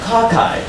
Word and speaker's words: cocci: So if you have E in Latin, you spell it with a L-A-M-E-L-L-A-E. So it's actually the plural of lamella. What about cockeye?